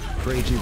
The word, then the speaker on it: Kragie: It's Kragie.